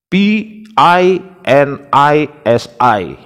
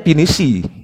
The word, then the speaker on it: Pinisi: i itu bacanya gimana kalau kita kan konsisten p i n i s i jelas Pinisi mereka p i n i s i bacanya itu gimana coba kita enggak bingung kita p i n i s i bacanya pinishi sama mereka kan enggak konsisten Harusnya kalau konsisten itu ya painisai ya iya kan guys